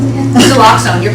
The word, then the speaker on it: Naloxone: Since what is the name, how do you pronounce it again? Naloxone, you're correct.